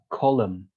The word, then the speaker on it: column: letter or sorry or we can say like column we don't uh really say the n we don't pronounce the n or we say doubt